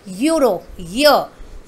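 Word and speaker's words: Euro: अ यूरो, देखिए इसकी spelling देखिए, ई यू आर ओ, ये वर्ड हमारा ई से स्टार्ट ज़रूर हो रहा है लेकिन इसका साउंड क्या आ रहा है, यूरो, य की साउंड दे रहा है, यानी कि वाई वाई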